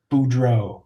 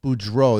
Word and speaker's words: Beaureault: never even tried last names how do you pronounce it Boudreaux Boudreaux there you go so thank you so much